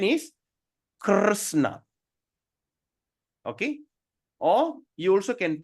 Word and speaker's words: Krishna: So that means, in other words, we just make that I disappear. The word I doesn't exist. So Krishna. Or in other words, we can pronounce like K-R-U-S-H-N-A. Krishna. Okay, that's a real pronunciation.